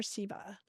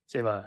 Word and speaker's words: Seva: And I thought maybe you could explain the concept of, is it pronounced Seva or Siva? Seva, yeah. Seva.